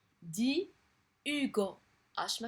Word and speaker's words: Hugo: اس ما كتنطقش. دي Hugo اش ما كتنطقش.